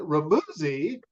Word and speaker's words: Remuzzi: you got it right it rhymes with fuzzy that's what I tell people you nailed it yeah